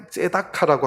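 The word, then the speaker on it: צְדָקָה: 그 다음에 의로움은 정의인데 이걸 째다카라고 합니다.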